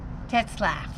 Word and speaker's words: Tetzlaff: bordello and and in 1897 uh taylor august tetzlaff how do you say it t e t